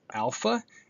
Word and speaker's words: alpha: So we begin here with alpha, and here is the lowercase letter, and then the uppercase letter as in father.